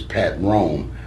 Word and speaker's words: Patron: And if you break it into 2 syllables, Patron, the liquor, is Pat Ron. Mine's is Pat Rome.